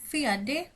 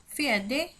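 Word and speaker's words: fjärde: ফিয়াডে ফিয়াডে ফিয়াডে মানে হচ্ছে ফোর্থ অথবা চতুর্থ চতুর্থ। ফিয়াডে অথবা ফিয়াডেও বলা হতে পারে, কারণ আমরা দেখেছি সুইডিশে ডিয়া এটার উচ্চারণ দিয়াও হয়ে থাকে অথবা ডিয়াও বলা হয়ে থাকে।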